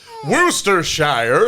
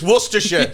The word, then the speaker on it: Worcestershire: like also as well when i hear an american uh pronounced worcestershire it makes me want to shoot the whole country worcestershire and it's like go yourself it's worcestershire yeah but like i